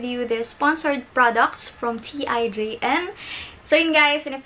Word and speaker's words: TIJN: the sponsored products from tijn so you guys and if you're interested then please keep on watching in collaboration with t i j n and the right pronunciation is teen which is spelled as